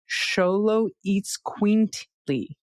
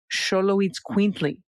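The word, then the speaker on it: Xoloitzcuintli: before but the Xolo breed of dog is pronounced Xolo which is short for Xolo eats quintly. Xolo eats quintly.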